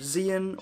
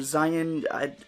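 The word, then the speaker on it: Xi'an: Berg a Twi'lek mercenary named Xion or Zion it's spelled X AI ' aan so it's kind of just however you want to pronounce that is good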